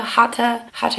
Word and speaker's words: Hatha: Hatha yoga is actually how you say it.